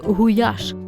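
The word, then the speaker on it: gulyás: Гуляш - найулюбленіша та найпопулярніша угорська страва. Самі угорці вимовляють цю назву як гуяш від слова гуляс пастух великої рогатої худоби.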